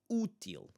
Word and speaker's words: útil: And then we have the accentuated syllable at the first one. Útil, útil, útil.